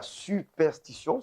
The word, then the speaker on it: superstition: cette question de la superstition. C'est bien cela? Je prononce bien, hein? Oui, absolument. Ouais, c'est un mot où il y a un S et puis un T La après.